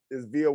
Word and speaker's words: Vija: It's pronounced Vija. You don't pronounce the J. J is like a Y.